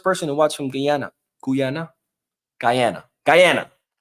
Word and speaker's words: Guyana: Guyana. That's how you say it.